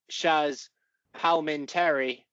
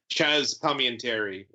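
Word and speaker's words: Chazz Palminteri: Baldwin, Gabrielle Byrne, Benicio del Toro, Kevin Pollak, Shaz Palminteri, Pete Postlethwaite, and Kevin Spacey. Pete Postlethwaite, what a legend. You've butchered some pronunciations there, Sammy. I'm sure I have. Chaz Palminteri, very regular mafia-style actor from the 90s, though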